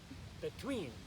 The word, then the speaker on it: between: Again, notice that accent's on the second syllable.